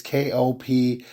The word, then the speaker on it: Koptich: Her name is Kopetecki or Koptek. I think I'm saying it right. It's Koptich.